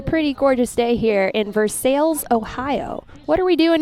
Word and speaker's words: Versailles: So the town of Versailles, Ohio, spelled like Versailles but pronounced like Versailles, runs a large chicken-themed festival, I should say.